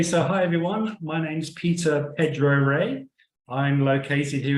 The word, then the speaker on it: Peter: I'd show them my passport and I'd say, my name's Peter. They'd say. And I'd say, no, Peter.